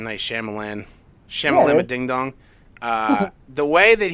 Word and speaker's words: Shyamalan: Night Shyamalan, is that how you say his name? M. Night Shyamalan, Ding Dong.